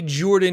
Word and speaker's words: Jorphdan: Hey everybody, Jordan here. The PH is silent, and oh man, I wanted to talk about Gen Con.